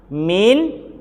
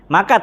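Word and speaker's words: مائة: antara Ini sama ini maka tetap bacanya Mi bukan Ma ini asal muasal ceritanya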